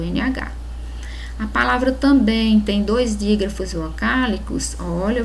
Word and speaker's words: também: Na pronúncia de também se percebe o som de M em som de I, com o som de I.